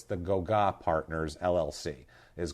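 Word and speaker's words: Gauguin: G A U G U I N Go. That's what it is. Go. Go is how it's pronounced. Okay. So, it's the Goa Partners LLC is called.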